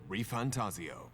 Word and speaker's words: ReFantazio: bloodline here Begins the demo prologue of metaphor reantaso that's how you say it what we have